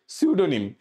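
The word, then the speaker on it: pseudo: কি বুঝতে পারছো তো সিউডো শব্দের মানে হচ্ছে ছদ্দ ছদ্দাবেশ ধারণ করা ছদ্দাবেশ ধারণ করা সিউডো শব্দের মানে হচ্ছে ছদ্দাবেশ ধারণ করা কিন্তু আগে এখানে সিউডো এস থেকে শুরু হয় পি টা আমার সাইলেন্ট তাইলে আমি কি শিখলাম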